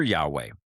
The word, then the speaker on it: Yahweh: Well, you'll often hear Yahweh, and that's widely accepted by scholars as the most likely ancient pronunciation.